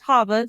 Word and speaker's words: Chava: said my name is Hava it's spelled with a CH so yeah everyone mispronounces it all the time but it is pronounced Hava C is silent and